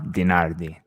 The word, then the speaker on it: DiNardi: Yeah, so DiNardi. Perfect. I couldn't have pronounced it better myself.